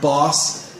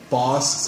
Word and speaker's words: boss: A lot of my Korean students want to say it with a long O sound. Boss. Like that sounds Korean when I say that. The O is not an O, it's an right? Boss. It's my boss. Ba. Like boss. Not boss.